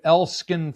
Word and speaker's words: Elskan: Now, you you uh record under the name Elskin Fly. Am I pronouncing that correctly?